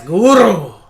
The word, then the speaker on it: Gurue: No, you said it wrong. Yeah, it's Gurue. Gurue. Depends on how you want to take that exclamation point. Could be like that. Or you could just say Gurue, or you could say Gurue exclamation point.